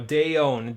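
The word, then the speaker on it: Deohn: Yeah, no, Deon, D-E-O-H-N is how you spell the secondary phrase there.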